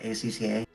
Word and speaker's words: ACCA: what is ah i'm not sure how it's pronounced akka right acca yes can you give me a little bit more than that a number even a cup 13.